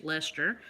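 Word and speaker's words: Leicester: a natural color blue face Lester I always wanted to call it like I don't know Lester it looks funny but that's how you say it they tell me and it is beautiful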